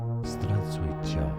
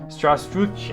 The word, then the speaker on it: Здравствуйте: In Russia, it's said as Здравствуйте. Здравствуйте. Alright, Здравствуйте.